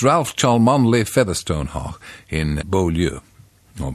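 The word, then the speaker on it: Cholmondeley: take the Mickey out of those who can't pronounce good English it's Ralph chalm only Featherstone hawk in bolu or possibly fanshaw in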